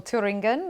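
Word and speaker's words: Thüringen: from a polling booth in thuringia or turingan if you fancy the German uh more German pronunciation uh but what do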